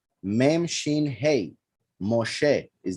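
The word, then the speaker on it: משה: the hay is not silent um for instance moshe ends with a hate his name is not mosh right shin hey moshe is not mosh um and in other examples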